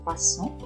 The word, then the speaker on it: croissants: Les croissants, attention, S final, on ne le prononce pas, des croissants.